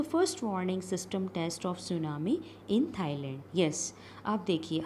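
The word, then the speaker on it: tsunami: पर आया है एंड इससे सुनामी ठीक है सुनामी बोलेंगे आप इस मिट्टी जो है इसका साइलेंट रहेगा ठीक है आपको पता नहीं कुछ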